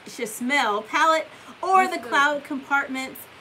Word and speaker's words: Chasmell: It's not Chanel. It's Chasmell palette or the cloud compartments on the outside of the bag.